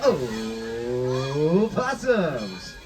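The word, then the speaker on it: opossums: marsio those fabulous little o possums and yeah I know the O is silent that is like saying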